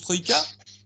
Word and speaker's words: Troïka: 3K ou Troïka, il me semble qu'on prononce Troïka. Troïka. C'est ça.